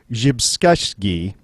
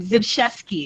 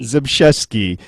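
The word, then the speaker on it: Zbyszewski: go okay and it was written by Paul jeski oh I I butchered that and I practiced before you did you did it oh well before we recorded zesi zesi yes I even looked up how to pronounce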